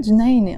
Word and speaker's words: جنينة: So the word جنينة on its own doesn't have a تمر. Sorry, it has a تمر بوتا, but we don't pronounce it. We just say جنينة.